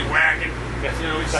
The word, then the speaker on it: Wacken: I'm saying this wrong, is it pronounced Bakken Tour Festival? That's festival, yeah, in Europe, a lot of times they put a V where we just say Wacken. You know, we just say Wacken.